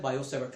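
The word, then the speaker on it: Biot–Savart: ट जो है वो टी साइलेंट होता है, बायो-सेवर्ट लॉ।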